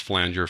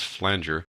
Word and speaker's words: flanger: It really is pronounced flanger, folks. Some people call it flanger, but it is flanger.